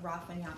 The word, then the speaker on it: Roi Fainéant: the inaugural edition of the raffanya book club yes that is how you say the name of the press believe it or not